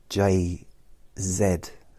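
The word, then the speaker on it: Jay-Z: England wrongly say Z that's why J Zed I won't call him J j z JZ if it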